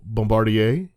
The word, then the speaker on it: Bombardier: So Bombardier, is that how you say it?